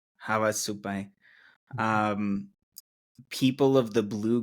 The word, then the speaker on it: Havasupai: Um, the Hawasupi, am I pronouncing that correctly? Havasupi. Havasupi. Havasupai.